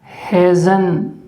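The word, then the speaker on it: hasn't: ठीक है, इसके बाद है हैज के साथ जब आप नोट लगाएंगे तो वो आप लोगों का कहलाएगा हेजन। ठीक है, इसे क्या उच्चारण करेंगे आप? हेजन।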